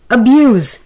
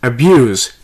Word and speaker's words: abuse: the word is abuse the noun is abuse stress being on b-u-s-e the word form is abuse the stress is on b-u-s-e the word is transfer